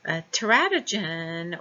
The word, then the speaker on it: teratogen: Teratogen or teratogen, it's pronounced both ways, impact prenatal development through 4 factors.